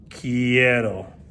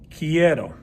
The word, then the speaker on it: quiero: i want in spanish start with the key then add the word the sound error and then you get kiero now how do you